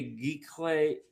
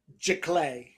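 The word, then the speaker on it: giclée: So, you can get a geek clay geese, sorry, just how do you say it again? Jlay.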